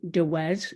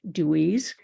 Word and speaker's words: DeWez: Could I please just ask one favor, and that's to pronounce my surname DeWez, not Dewey's.